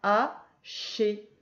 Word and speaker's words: haché: Le H ne se prononce pas. Haché, haché.